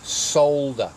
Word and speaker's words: solder: of solder away now for you Americans that's solder it's not not solder it's solder there's an L in it and it's not a silent l so best you use